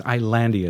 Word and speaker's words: Islandia: I always pronounce it Islandia, but I think it's Islandia is the proper pronunciation.